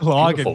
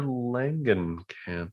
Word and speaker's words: Langenkamp: Isn't it Langen with an A? You know what? You're probably right. I do Mm, mispronounce a lot of things. lagging. It's like Langenkamp.